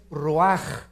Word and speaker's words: ruach: se pronuncia nepe porque la ch en hebreo es j nep y la palabra espíritu es ruaj se escribe ruach entonces